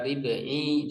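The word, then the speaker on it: ربعي: Fa muhmalatun maksuratun lalu huruf ain yang tidak bertitik kasroh ribi wa musannatun tahtiyatun musaddadah lalu huruf yang bertitik dua di bawah maksudnya huruf ya bertasdid ya maka ribi dibacanya gitu.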